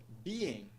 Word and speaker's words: being: A palavra tem dois sons de vogal, então ela tem duas sílabas. Primeira sílaba be, segunda sílaba en. Nós vemos ali, após a primeira sílaba, um apóstrofe, o que indica que a primeira sílaba é uma sílaba estressada.